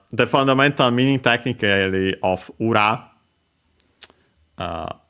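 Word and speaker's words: 裏: fundamental meaning technically of ura uh accent on the last mor by the way uh means opposite side uh in various senses.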